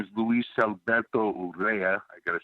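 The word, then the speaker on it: Luis Alberto Urrea: my best friend growing up his name is Luis Alberto Ura I gotta say it like that he's a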